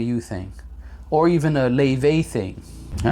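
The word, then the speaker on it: Laufey: Laufay. Like lay and then vey.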